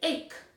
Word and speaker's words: ache: We say ache. That's what that word is. It is ache. So in this case, the CH here makes the k sound. Or it makes the hard C sound, which is the same as K.